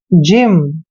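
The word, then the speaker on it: gym: है ना जब भी जी के बाद आई आए तो जी को हमने ज पढ़ना है जैसे नेक्स्ट एग्जांपल बी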